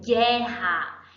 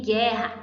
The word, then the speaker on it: guerra: Em guerra eu tenho dois dígrafos. Por quê? Quando eu pronuncio gué, eu estou pronunciando apenas o som de uma vogal. As duas vogais, o U e o E, equivalem ao som de uma, certo?